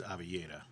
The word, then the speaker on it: Oliveira: The proper way is Avillera.